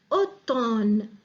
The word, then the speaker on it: automne: sur la prononciation auto automne l'automne on prononce pas le m une aide le aymeric